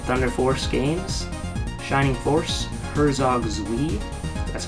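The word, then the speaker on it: Herzog Zwei: Wing Musha the Thunder Force games Shining Force Herzog zi that's how you pronounce it Altered Beast and space Harrier um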